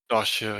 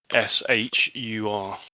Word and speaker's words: Dahshur: Dashur, yeah, Dahshur.